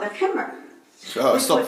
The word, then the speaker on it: khimar: The word she was trying to actually pronounce was Khimar. khimar. Okay, so khimar is the way to say the word.